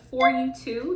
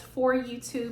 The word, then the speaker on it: FYTOO: haul and review with for you two that's how I'm going to pronounce the company so it's f-y-t-o-o and I just want to say it's for you too because it is for you too if y'all can't see